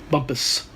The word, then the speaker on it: Bumpus: Got my bike towed over to Bumpus. Did I say it right? Bumpus? Yeah, I did say that right. Bumpus.